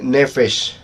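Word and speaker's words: נֶפֶשׁ: La palabra alma en el idioma hebreo, en el Antiguo Testamento, se dice nefesh. Ese es el término alma, nefesh. Así se escribe en el Antiguo Testamento y a nuestro idioma se traduce como alma.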